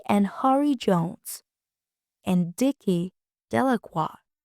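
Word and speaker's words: Delacroix: Harry Jones and Dicky delaqua the villagers pronounce this name Delroy eventually made a great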